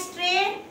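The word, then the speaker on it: straight: देखिए मैं बोल रही हूँ स्ट्रेट, STRAI, स्ट्रेट, T स्ट्रेट, GH को तो मैं खा गई अंदर ही, है ना, बोल ही नहीं रही मैं, भूख लगी थी मुझे। स्ट्रेट, तो कौन से लेटर साइलेंट हैं यहाँ पे?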